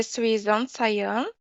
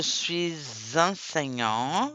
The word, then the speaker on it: suis enseignant: Je suis enseignant. Je suis enseignant. Voilà, finit par S, commence par E. Le son va devenir Z.